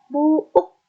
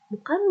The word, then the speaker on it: buuk: Nuka 8 aya kecap buuk, bukan buk ya, tapi dibacanya buuk.